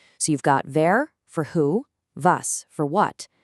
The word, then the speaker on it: wer: Just remember that that W is pronounced like a V in English. So, you've got "wer" for who, "was" for what, "woher" for where from.